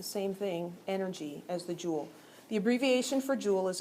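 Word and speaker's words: joule: Um, and so it's pronounced like jewel, right? Like a jewel in your crown.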